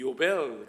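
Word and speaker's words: יובל: 영어로는 주빌리, The year of Jubilee 그러는데, 원래 히브리 말로는 이 요벨 그렇게 발음합니다.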